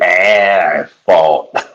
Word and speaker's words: asphalt: Fat Evans, it's asphalt. Asphalt. Well, that's how I never said it wrong again because I was like, oh, so basically you just put ass in front of it.